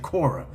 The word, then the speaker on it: Quora: Now, I'm not quite sure if you're familiar with the website Kora. Uh, it's spelled quo r a.